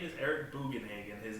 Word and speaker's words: Bugenhagen: It was Eric Bugenhauser? No, his name is Eric Bugenhagen.